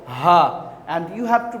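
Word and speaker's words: ه: Yes, this one is Ha, and you have to pronounce this one from the starting point of the throat, Ha, Hamza and Ha.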